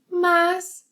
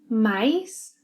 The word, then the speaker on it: mas: used to introduce contrast and regarding pronunciation hear brazilian Mas mais mais mas mais cameria tudo perfeito